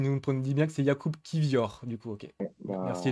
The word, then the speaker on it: Jakub Kivior: le rappelle, qui nous dit bien que c'est Jakub Kivior.